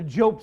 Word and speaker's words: Jobst: It's called a Job suit. It's spelled Jobst.